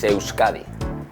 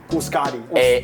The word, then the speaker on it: Euskadi: In English, it's Basque. In our language, it's Euskadi. Euskadi.